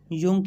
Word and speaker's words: Jung: अच्छा याद कर लो, JUNG, योंग। बहुत से जाहिल इसे जंग पढ़ते हैं और कुछ जोंग। जिन्हें काबिलियत का हैज़ा हो जाता है वो योंग पढ़ने और लिखने लग जाते हैं।